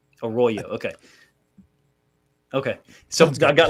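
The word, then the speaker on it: Arroyo: Uh how do you say Aoyo? A Royo properly. Huh? A Royo. A Royo.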